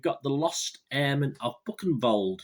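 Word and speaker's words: Buchenwald: the lost airmen of buck and bold yes i think that's how you pronounce it book and bold b-u-c-h-g-n-w-a-l-d book and bold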